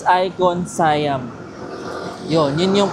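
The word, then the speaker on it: ICONSIAM: Like kung icon siam ang alam ko sorry mali pala icon sayam guys. Hindi pa icon siam. It's icon sayam.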